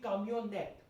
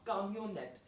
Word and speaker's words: camionnette: front of cameo, then N will be of course pronounced because there's a vowel after N. So it would be camionette. It will become feminine, la camionette.